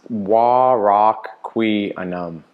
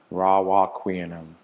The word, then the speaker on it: Warocqueanum: Q-U-E. Oh, I was completely wrong. Vulnerable share. It is pronounced Warocqueanum. Warocqueanum.